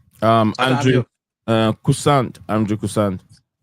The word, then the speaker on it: Korssund: Andrew Kusant. Andrew Kusant. How do you spell it? ANDR. Okay, the Andrews, so Kusant will be KORSSUND. K as in Kevin.